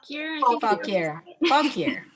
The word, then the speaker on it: Fauquier: is the Culpeper, and I never get the pronunciation right, Fauquier? Fauquier.